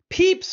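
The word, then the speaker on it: Pepys: I say peeps fan because I think it's Samuel Peeps and I think the name of Samuel peeps is pronounced peeps so correct me if I'm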